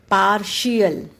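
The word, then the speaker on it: partial: इसकी हम प्रोनंसिएशन करेंगे टी के बाद जब आई ए आता है तो हम टी की प्रोनाउंस एशन एस शो भी करते हैं उस टाइम आई ए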